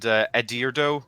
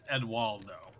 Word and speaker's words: Eduardo: And Edirdo, was that your name? Oh, it's Eduardo. Eduardo.